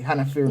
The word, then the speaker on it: Hannah Fierman: I forgot to ask you how to say it correctly. Hannah Feirman, Yeah, right? you said it correctly.